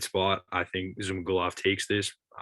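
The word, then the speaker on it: Zhumagulov: right against jerome rivera in the flyweight division zuma golov right is how you say it zuma glove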